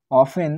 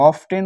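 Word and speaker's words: often: খরচ expenditure অফেন ranges তো অফেন মানে প্রায় বা অফটেন উচ্চারণ করা হয় এটার ঠিক আছে তো অফটেন বা অফেন রেঞ্জেস এটা কিন্তু রেঞ্জ থাকে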